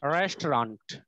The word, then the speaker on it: restaurant: আচ্ছা, কয়টা সিলেবল হয় দেখো তো? রেস্ট টু রেন্ট, কয়টা সিলেবল? তিনটা সিলেবল হচ্ছে, কিন্তু শব্দটা 2 সিলেবল বিশিষ্ট। আমরা বললে হয় 3 সিলেবল, ইংরেজরা বললে হয় 2 সিলেবল। আচ্ছা, আমি আবারও বলছি, এটার উচ্চারণ কি দেখো? রেস্টুরেন্ট, রেস্টুরেন্ট, রেস্টুরেন্ট, কয়টা? দুইটা সিলেবল, রেস্টুরেন্ট।